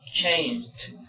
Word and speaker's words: changed: Y bien, entonces asimismo tenemos palabras con esta de acá, que es por ejemplo changed. ¿Se ve cómo es la pronunciación? Changed. Entonces aquí es la D, nada más aquí, changed.